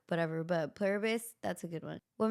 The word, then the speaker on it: Pluribus: Pilibus. Pluribus.